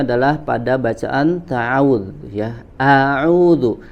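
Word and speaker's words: أعوذ: Ya, salah satunya adalah pada bacaan ta'awudz, ya, a'udzu. Maka huruf hamzah di kata ini hati-hati kita tidak sampai atau jangan sampai membacanya dengan suara yang tebal, ya. Baca dengan suara yang tipis, istifal atau tarqiq, ya.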